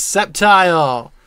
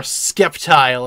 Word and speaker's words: Sceptile: what this one nope this is Sceptile or skeptile as some people incorrectly pronounce it Torchic that is Torchic